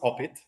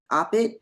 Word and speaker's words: OPIT: are the founder and the director of opit or do you pronounce it opit it's no it's opit it's open Institute of